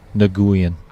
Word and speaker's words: Nguyen: Fong Nguyen. That's how he pronounces his last name.